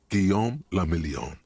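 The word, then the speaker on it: Guillaume Lamillon: meant only one thing guillaume lamillion if it doesn't rhyme you're not pronouncing it right out of the dazzling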